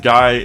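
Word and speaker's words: GAI: Guy is an AI system based on his father's voice, and Guy is spelled G-A-I and it stands for Genomic Artificial Intelligence.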